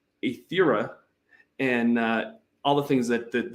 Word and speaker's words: Aetherra: So I'm super stoked for I believe it's pronounced Aetherra, and all the things that the Alchemy team